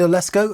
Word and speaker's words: Oleszko: This is Oleszko. Have I said it right? You have indeed.